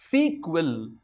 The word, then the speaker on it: SQL: have to understand is it has also been pronounced as sequel so structured query language